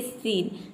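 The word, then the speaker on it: scene: देखिए यदि किसी वर्ड में SC के बाद EIY इन तीनों लेटर में से कोई भी लेटर हो तो वहाँ पे SC को आपको क्या प्रोनाउंस करना है, स प्रोनाउंस करना है। एग्जाम्पल देख लेते हैं। यहाँ पे देखिए सीन, सीन में आप देख सकते हैं कि SC के बाद लेटर कौन सा आया है, E आया है, यहाँ पे देख सकते हैं E।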